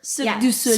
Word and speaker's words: Cirque du Soleil: Cirque du Soleil.